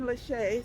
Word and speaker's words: Lecce: But there's a mothers group that published or printed or created Stephen Lachey. Stephen Lachey is the Ministry of Education. His last name is spelled Lecce.